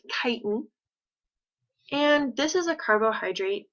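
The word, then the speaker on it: chitin: material so this word right here this is pronounced kiten and this is a carbohydrate that is really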